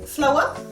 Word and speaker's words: flour: Donc nous avons flour, la farine, qui est ici. Flour, ça se prononce comme une fleur, mais ce n'est pas la même chose, attention.